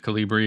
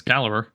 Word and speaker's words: Calibre: Well, I'm using Calibre, which if you're like me, you probably pronounced it Calibri or Calibre. But, no, apparently according to their website, it's Calibre.